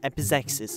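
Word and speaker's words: epizeuxis: on a minute okay I checked it's it's pronounced F is exes apparently okay so yohohoho yohohoho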